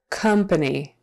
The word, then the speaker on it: company: du doesn't company company again this o is pronounced like a short u company company comp and really that second a is also pronounced like a short u when we're in um conversation company positioned positioned syllable